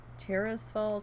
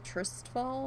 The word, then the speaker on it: Tirisfal: For the longest time I was calling Tirisfal Tristfal, and I'm just like, oh.